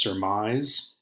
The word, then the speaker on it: surmise: And so the word that you're going to do this week is pronounced surmise.